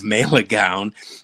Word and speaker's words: Malegaon: This next one, Superboys of Yeah, it's Malegaon is the way. Malegaon.